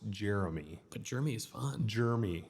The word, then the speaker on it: Jeremy: when people call me jery okay well I have two e in my name so it's actually pronounced Jeremy but Jeremy is fun